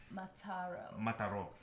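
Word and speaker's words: Mataró: Mix is in Mataro. Mataro. I'm sorry. My bad. I'm super American. Accento on the O.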